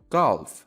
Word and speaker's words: golf: Golf. Golf. Golf. Golf is a sport with clubs and a small white ball. ورزش گلف میشه این کلمه. البته دقت کنید همونطور که شنیدید به صورت گالف تلفظ میشه.